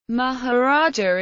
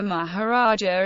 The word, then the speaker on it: Maharaja: and religious offices although the fact that in Hindi the suffix a is silent makes the two titles near homophones atmology the word Maharaja